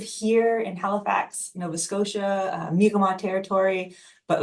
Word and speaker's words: Mi'kmaq: there is, for the Mi'kmaq, uh, there's a little bit of well, it's not pronounced like that goes on. There's the very Anglophone, oh, it's Micmac. And that's not right at all.